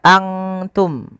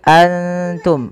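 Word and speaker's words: أنتم: Maka antum tidak dibaca antum, bukan dibaca antum tapi antum. Bedakan antara bunyi an ya, antum dengan antum jauh beda.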